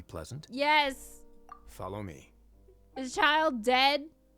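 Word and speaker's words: Childe: heard that before yeah but it is child chill day CH day is a very common mispronunciation so you're not alone honestly for a place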